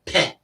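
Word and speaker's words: phat: So Fat, in Tibetan, it's pronounced more like Pe.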